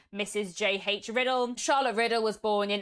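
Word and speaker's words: Riddell: The next author I want to tell you about is Charlotte Riddle. I always instinctively want to say her name as Riddle, but I'm pretty sure that it is meant to be said as Riddle.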